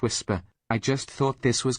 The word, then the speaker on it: Wixper: I should tell you after all this time that it's actually pronounced whisper.